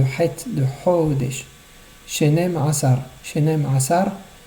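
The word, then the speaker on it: שנים עשר: Shenem Asar, il faut les prononcer ensemble et bien faire ressortir le Aïn de Asar. Pas dire Shenem Asar. C'est pas un Aleph, c'est un Aïn.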